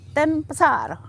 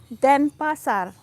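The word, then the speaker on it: Denpasar: pasar you don't say ten pesar you don't say den pasar you see it's very important the pronunciation the syllable how you how you emphasize so you say den pasar in den pasar if you say that i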